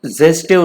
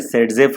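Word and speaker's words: Zaitsev: अभी जेस्टेव रूल सबसे पहले हमको देखना है, जेस्टेव, एक्चुअली इसका प्रोनाउंसिएशन है सेडजेफ रूल, लेकिन इसका स्पेलिंग ये है, ये देख लो, चलो छोड़ो, ये कोई बड़ी बात नहीं, ये इंपॉर्टेंट है।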